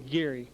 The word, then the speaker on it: Gerry: Yes, I am, and the name is Gary. Oh, Gary. It's spelled like it's Jerry, but it's Gary.